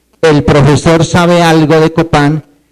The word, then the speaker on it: copá: favor levantando la mano la palabra es copá la c de casa la o de oso la p de papá la a de Alejandra y la n de nada copá con acento en la a copá copá levanten la mano los